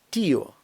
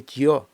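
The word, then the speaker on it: tío: і або у От наприклад тіо що означає дядько не тьо а тіо бо якби розбивки не було було б тьо а нам треба тіо так от щоб воно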